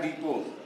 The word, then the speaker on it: depot: पर जाते हैं, तो वहाँ पर लिखा रहता है डिपो, और स्पेलिंग लिखी रहती है DEPOT। इस पर एक नियम आपका है, अगर कोई भी आपका वर्ड है, कोई भी आपका वर्ड है और उसके अंत में क्या है, टी है, और टी के पहले